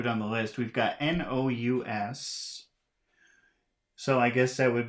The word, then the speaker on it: nous: We've got N-O-U-S. So I guess that would be pronounced nu.